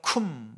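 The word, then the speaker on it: קוּם: 나의 언약을 세우겠다 말씀하셨습니다 언약을 세운다고 하는 히브리어의이 단어의 발음은 꿈입니다 꿈 말씀을 원문을 찾으면서 연구하면서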